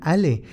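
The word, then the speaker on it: allez: de sus colonizadores con la palabra allí es pronunciada Ale que significa vamos en francés durante días Era lo único que escucharán de aquel a quien han confiado su vida alé alé Los guiados han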